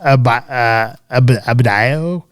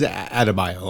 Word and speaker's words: Adebayo: Smith, Peacemaker, he thinks Leota Abadayo, or I don't know how you say her name, is his best friend. I think it is Adebayo. I think you're right. Yeah, I think you got it.